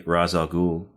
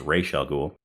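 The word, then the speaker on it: Ra's al Ghul: Batman Begins yes AKA razal ghoul or how it's actually pronounced Rael ghoul but that all lead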